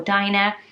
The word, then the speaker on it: Dina: would you go for would you automatically think of it as Deena or Dinah I really love the